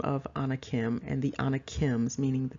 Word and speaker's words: Anakim: the full name of Anna Kim and the anakims meaning the people and of course another way to pronounce that is the on Hakeem and so you have